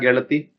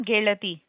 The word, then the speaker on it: ಗೆಳತಿ: Smruti ma'am, can you quickly pronounce these words? Gelaya, Gelati. Yes, yes. Geleya, Gelati.